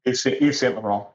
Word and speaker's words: Yves Saint Laurent: Am I pronouncing it right? Yves Saint Laurent, yeah. Yves Saint Laurent.